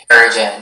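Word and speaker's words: Harijan: Harrigan, am I saying it right? Harrigan, yeah, that sounds right.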